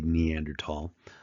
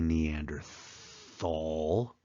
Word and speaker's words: Neanderthal: here we have the neander tall um some people say Neanderthal they they pronounce that th the H is silent in German so we don't say Thal we say neander tall and I believe the